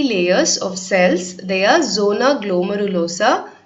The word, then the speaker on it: zona glomerulosa: They are zona glomerulosa, zona fasciculata and zona reticularis. திருப்பி படிக்கிறேன், just note down the pronunciation. 3 types of cells வந்து adrenal cortexல இருக்கு. They are zona glomerulosa, zona fasciculata and zona reticularis.